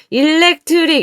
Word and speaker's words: electric: 여기는 electric 강세가 leg에 있습니다. electric 이렇게 빼면 안 돼요. 여기 강세가 leg에 있기 때문에 여기 힘이 들어가서 앞에가 이제 e가 안 되고 으처럼 힘이 약해져요.